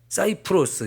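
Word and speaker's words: Cyprus: 섬이라고 이렇게 얘기를 합니다 영어식으로 발음을 하면 사이프로스 이렇게 말하기도 해요 자이 섬이 우리나라 제주도의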